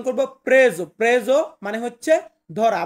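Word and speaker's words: preso: এটাকে আমরা উচ্চারণ করব প্রেজো। প্রেজো মানে হচ্ছে ধরা, বা এভাবে বলতে পারেন প্রেসো।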